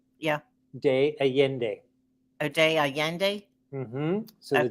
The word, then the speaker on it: Allende: de Allende a day Allende so Double L is pronounced as a y so San Miguel de Allende is in the heart